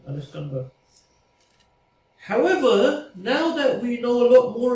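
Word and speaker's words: الإسكندر: How do you say it in Arabic again? Al-Iskandar. That's it, Al-Iskandar.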